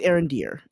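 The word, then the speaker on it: Arondir: Arend Deere aend deer it's probably pronounced Aaron Deere I'm I'm pronouncing it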